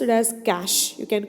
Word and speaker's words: cache: use for the processing the cash memory is pronounced as cash you can call it as cash memory also or sometimes you can call it as catch a memory also okay the user from where he